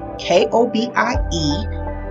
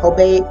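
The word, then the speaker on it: Kobié: co b yeah cobia yes get it right k-o-b-i-e accent over the e okay um so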